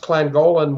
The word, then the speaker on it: Llangollen: It's pronounced Llangollen, Wales, North Wales.